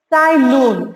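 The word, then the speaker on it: Ts'ai: Here, Sai Here T is silent, children.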